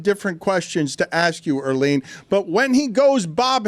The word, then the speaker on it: Earleen: You did say Arlene. You got her name wrong there.